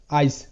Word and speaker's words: ice: তো এখানে কেন আই এর উচ্চারণ আই হচ্ছে? দ্বিতীয় যে রুলটি আমি বলেছিলাম সেখানে কি বলেছি যে আই এর পর যদি একটি কনসোনেন্ট থাকে এবং তারপর যদি ই থাকে তাহলে সেখানে আই আই হিসেবে উচ্চারিত।